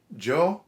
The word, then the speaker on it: Giovanni: Okay, it's not Annie, it's Anni. And okay, fine, we're English speakers, we're not used to doing that. But in Italian, it actually makes a semantic difference. The other one is, it's not Gio, it's just Joe. So, Don Giovanni. Giovanni.